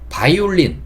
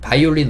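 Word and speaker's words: violin: 발음되는 단어들 중 하나에요 제가 비읍을 써 놓긴 했지만 비읍의 대표주자 ABC 할 때 그 B 하는 좀 소리가 다릅니다 ABC 할 때 그 b는 이렇게 되는 소리고요이 부위는 f랑 비슷해요 발음이 셉니다 이런 소리가나요 다시 한번 비교해 드리면 b는 붙었다가 딱 떨어지면서 근데 지금 보고 계시는 부위는 입술이 붙지 않아요 이렇게 소리를 내주셔야 되고 바이올린 바이올린 우리가 아는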